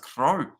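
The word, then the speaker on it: Cros: national demon blue cheers Gavin Francois Cruz is pronounced Crow I like the bird crow French pronunciation I will remember that one that's Francois Crow okay I'm sure that I'm listening to the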